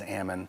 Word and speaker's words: almond: Although, I do think the first pronunciation in the dictionary is amond, just like salmon.